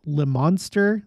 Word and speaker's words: Leominster: 11th, as well as Someone told me that it's Le Monster. That's how they pronounce it over there. And of course, you know, because English, it's not like we have ways of spelling things the way that they sound, but either Leominster or Le Monster, Massachusetts.